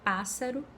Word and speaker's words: pássaro: É o caso da palavra pássaro e carro. Nesse caso eu tenho dois S's, porém só pronuncio um S.